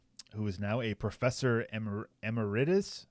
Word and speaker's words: emeritus: So, quote, "It's a remarkably consistent record," said Holiday, who is now a professor emeritus.